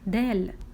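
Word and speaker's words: د: This is letter dal.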